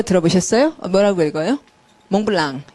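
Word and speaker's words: Montblanc: 몽블랑 예 몽블랑이라고 읽어요. 그 몽 이게 불어는 불어 불어에 비하면 영어는 굉장히 양반이에요. 불어는 발음하기가 더 어려워요. 스펠링 보고 발음하기가 자음을 안 읽고요.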